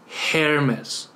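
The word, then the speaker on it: Ἑρμῆς: ，它的读音呢就是 Hermes 赫尔墨斯，它是商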